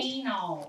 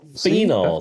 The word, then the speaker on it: phenols: slightly sweet slightly sweet Oak Apple that one finnels finnels fennels finnels like finnel seed but it